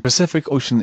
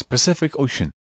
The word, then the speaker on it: Pacific Ocean: the way we pronounce pacific ocean take your time to say it slowly and you'll notice that each c is said differently the first with n